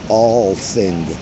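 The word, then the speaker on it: Althing: And parliament in Iceland, you will love it, phonetically pronounced the All-Thing.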